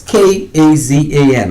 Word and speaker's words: Kazan: The Russian nuclear-powered submarine Kazan, that's K-A-Z-A-N. I don't talk Russian, but I think I say it right, Kazan, or Kazan.